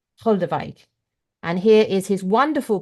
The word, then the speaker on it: Goldewijk: trying very hard to get this right, Yorick Goldewijk, which is spelt, if you're looking for his book, I'm going to say this because this is important. It's Goldewijk. Goldewijk.